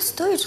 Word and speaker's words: Stoichkov: Mein Lieblingsfußballspieler lange Zeit war Bulgare, Stoichkov. Richtig. Spricht man das so aus? Stoichkov? Ja, Stoichkov.